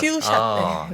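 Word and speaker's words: few-shot: 몇 개의 퓨샷. 퓨샷. 네. 네. 그래서 F 발음입니다. F 발음. F 예, 예. 발음입니다.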